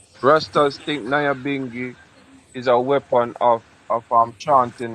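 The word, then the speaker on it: Nyabinghi: Tribe saying, why was she named Naya Bingi?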